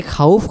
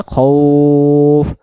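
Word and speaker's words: خوف: জ আল্লা অনেকে খাউফ খাউফ পড়ি। খাউফ বললে এখানে খটা খা হয়ে যাচ্ছে। আরবিতে হলো খ জবর খ। খ জবর খ। খা হবে না। খফ খফ খফ এমন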